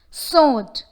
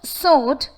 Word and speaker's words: sword: Sword. The word sword has the letters W and R, but the approximate consonant sounds of these two letters are unheard. We do not say it sword, it's just sword.